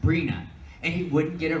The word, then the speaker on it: Brina: were getting interviewed and the guy could not say her name kept saying Brian she kept correcting him like every few seconds she would not say it Brina and he wouldn't get